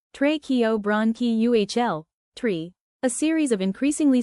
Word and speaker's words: tracheobronchial: Our trachea, bronchi and bronchioles, small airways, make up our tracheobronchial, pronounced tracheobronchial, tree.